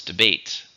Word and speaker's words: debate: Debate. 2, stresses on the second.